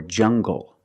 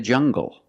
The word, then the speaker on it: jungle: hard G English or jungle Le tangle and angle these are pronounced with the hard G sound example monkeys live in a jungle make the hard G sound jungle so you have the